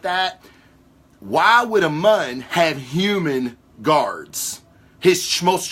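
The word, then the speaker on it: Muun: Darth Plagueis is he was a Mun, which was a very tall. I pronounced that right, Jason. Mun, M-U-N-N.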